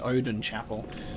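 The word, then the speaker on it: Oedon Chapel: erden chapel and I'll Odin Chapel that's such an interesting pronunciation I'm going Odin Chapel but it was all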